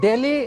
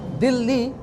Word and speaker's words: Delhi: colonizer names cuz the pronunciation Delhi is a colonizer pronunciation like Bombay that's a colonizer name. Mumbai is what the locals call it. Di is what the locals call it. Not Delhi.